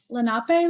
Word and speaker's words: Lenape: I come from Lenape land, that's how we pronounce it, yes.